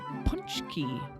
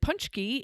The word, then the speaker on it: Pączki: This week on the podcast, we made Pączki, which is spelled nothing like it's pronounced. And Pączki is Polish donuts.